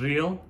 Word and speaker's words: riel: cambod currency which is also called real kind of like real but you can roll the r is spelled r i e l real was trying hard